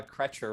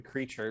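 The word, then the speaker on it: Kreacher: did i did uh i always pronounce uh the other house elf as uh cretcher rather than creature because oh my god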